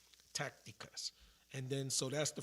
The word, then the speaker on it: tácticas: T with the A, with the accent over the A, the emphasis is on the A.